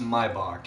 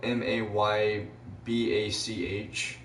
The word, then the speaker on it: Maybach: who won't know what word I'm saying it's pronounced Maybach even though it's spelled ma YB ACH it's pronounced Maybach so Maybach type 57 -